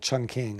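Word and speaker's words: Chongqing: china in a city it's often pronounced in in english-speaking parts of the world chun king i don't i don't know the chinese pronunciation but she's at a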